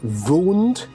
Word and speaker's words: wound: I believe the pronunciation is wound.